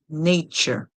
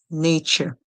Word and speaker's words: nature: When we put the word together, we get n, a, ch, nature, nature. The TURE in English is pronounced as ch, ch, ch, ch.